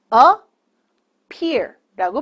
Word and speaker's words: appear: appear appear라는 동사를 알아볼게요 appear 에피가 두 개 있죠 하지만 영어에서는 자음이 두 개 있어도 딱 붙어 있으면 한 번만 발음을 해 줍니다 그래서 a pear라고 발음하시면 돼요 자는 동사로 나타나다 뜻이